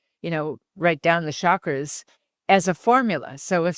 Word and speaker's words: chakra: So, and the way it's supposed to be pronounced is chakra, like a hard ch like the word church. A lot of people say chakra, but it's chakra.